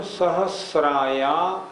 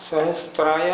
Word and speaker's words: सहस्राया: प्रथमो योजन सहस्राया, सहस्त्राया नहीं, सहस्रायामस्तदर्ध विष्कंभो हृदः।